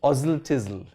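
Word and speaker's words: Oswaldtwistle: there's a place called oswald thistle which is pronounced ozil tizzle oh yeah english is a totally crazy language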